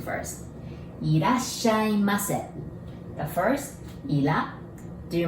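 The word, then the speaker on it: いらっしゃいませ: Irasshaimase. The first, ira. Do you remember? We don't have R sound in Japanese, so we pronounce it like L, right?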